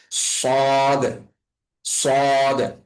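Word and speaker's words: صاد: এই বিষয়টা খেয়াল রেখে আমাদের সদ এর উচ্চারণটাকে একটু মোটা করে পড়তে তো সদের উচ্চারণটা মোটা হবে এবং তুলনামূলকভাবে সিনের উচ্চারণটা পাতলা হবে।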